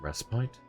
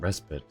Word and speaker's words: respite: Can you pronounce it restbite? I've always pronounced it respit. Hang on. Yeah, I'm only seeing respit as the pronunciation.